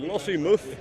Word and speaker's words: Lossiemouth: I've been informed how to pronounce it in Scottish as Lossiemouth.